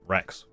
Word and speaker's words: Frex: Last photo is of my dog Frex. The F is silent, so Rex.